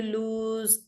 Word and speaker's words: lose: You lose weight, you lose your phone, you lose friends, you lose time. All that is LOSE, even though it's pronounced as lose, it is spelled as LOSE.